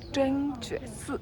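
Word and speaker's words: 真觉寺: 真觉寺と読む。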